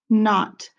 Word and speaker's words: knot: clues and the synonyms not k n o t not remember that k is silent a not goes with